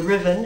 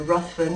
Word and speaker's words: Ruthven: And the character based off of Byron is Lord Ruthven, if you're British, Lord Ruthven, if you're reading it phonetically in the States.